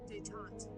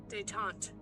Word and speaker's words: détente: How's this word pronounced? Détente. One more time. Détente. Détente.